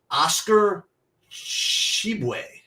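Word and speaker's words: Oscar Tshiebwe: Actually, I know this guy, but I don't know how to pronounce him. Oscar Shibwe.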